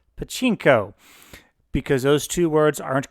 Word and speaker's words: pachinko: for this tutorial sequence i believe i refer to this as a pluchinko game or a panchinko game i always get the pronunciation on that a little bit wrong that's not quite correct um and pachinko which is very popular